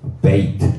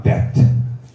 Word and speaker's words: 베트: 그래서 베이트 또는 베트 읽을 때 나중에 이제 기억할 때는 점이 있는 것은요 강하게 소리 납니다. B 소리가 납니다.